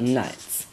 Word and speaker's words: knight: Basically, I'm here to tell you about knights. The first thing you need to know is that a knight is spelled with a silent K as a start, not an N.